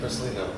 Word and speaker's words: Porcellino: John Porcellino, right? Yeah. Porcellino.